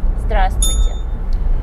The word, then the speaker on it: здравствуйте: to, you would use здравствуйте. Okay, so здравствуйте. Здравствуйте. Здравствуйте. So that's definitely three syllables.